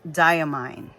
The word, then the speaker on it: Diamine: ye e a mine so that's why it's diamine so I'm like oh I'm glad I'm right I'm I'm glad I'm pronouncing it correctly so yeah um so that's